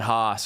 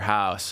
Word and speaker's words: Haus: And then Haus or house, it's pronounced kind of both ways, is the exact opposite, right?